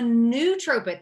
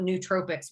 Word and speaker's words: nootropic: the heck is a new tropic so a nootropic that's spelled n-o-o-t-r-o-p-i-c-s okay nootropics are compounds or supplements